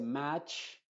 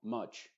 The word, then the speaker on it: much: B Cut Shot much no se dice match ni much sino much nunca match Porque esa a es muy abierta match simplemente much Shot Cut Bot Y